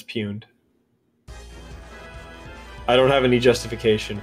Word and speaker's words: pwned: fumed perfect you know the correct pronunciation when people say it pwned they're wrong um yeah it's puned I don't have any